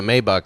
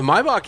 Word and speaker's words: Maybach: The Maybach is even longer. It's like 8 inches longer. Maybach. Why do they not take the A out if they want it to be pronounced Maybach? It's Deutsch.